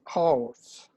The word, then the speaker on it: hers: So we want to hear the H.